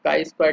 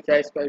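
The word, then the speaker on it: chi-square: टेक्निक है वो है चाई स्क्वायर, कुछ लोग काई स्क्वायर टेस्ट भी बोलते हैं, ठीक है। अलग अलग लोग अलग अलग प्रोनाउंसिएशन करते हैं, ठीक। तो काई स्क्वायर भी बोल सकते हो, चाई स्क्वायर भी बोल सकते हो, ठीक।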